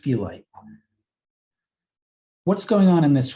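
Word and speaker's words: phyllite: is called felite so this is pronounced felite what's going on in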